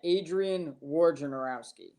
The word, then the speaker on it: Wojnarowski: Because we have Woj Bomb. We don't have Warge Bomb. It's Wojnarowski. So it's I did not say it correctly the first time. I caught myself. It is Adrian Wojnarowski.